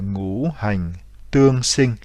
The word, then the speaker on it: Ngũ Hành Tương Sinh: Donc je vous rappelle, le cycle d'engendrement, cela s'appelle Ngũ Hành Tương Sinh, c'est-à-dire le cycle de naissance, Sinh, de naissance mutuelle, donc Tương Sinh, des 5 éléments.